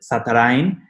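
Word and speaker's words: Zatarain: I'm as in social media, I am Zatch, but my legal name is Satarain. In Spanish, you pronounce it Satarain.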